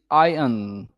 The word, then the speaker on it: iron: The actual pronunciation is iron.